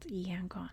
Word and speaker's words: Yangon: It's now called Yangon, because that's the Burmese pronunciation.